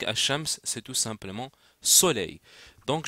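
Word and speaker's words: الشمس: fait qu'en effet que le LaM du soleil ne se prononce pas donc bien sûr ce Lam ne va se prononcer pas chez le soleil donc as Shams c'est tout simplement soleil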